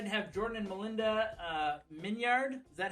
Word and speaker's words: Minyard: Anytime I'm telling people how to pronounce it, I always hang on the yard to really let them know how it's spelled. But it's Minyard.